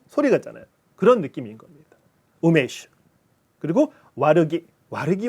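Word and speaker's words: 梅酒: 주라고 하잖아요 그래서 일번은 우메슈 합니다 근데 여러분 우매 매화 매실 메라고 하죠 뜻입니다 이거는 그다음에 주는 우리 발음은 술 주자인데 주고 소리는 일본 소리는 쇼입니다 슈 슈 우메슈 매실 주가 되는 거죠 한국말도 마찬가 있잖아 줄고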